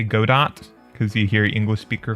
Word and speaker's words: Godot: yeah Godot I think I don't think it's pronounced Godot I think it's I'm pretty sure it's good though because it's like French probably I don't know you get